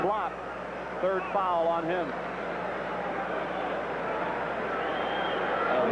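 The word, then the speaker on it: Uwe Blab: the big man juve his name is spelled uwe that's the first name then blab pronounced block third foul on him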